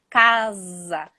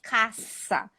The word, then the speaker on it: casa: Zzz, casa, não é caça. Porque caça com C cedilha é outra coisa em português.